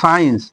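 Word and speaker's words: science: এস এর পরে যেমন সাইন্স এস সি আই ই এন সি ই সাইন্স এখানে কিন্তু সি এর উচ্চারণ হলো না তাহলে হচ্ছে তোমার বোঝা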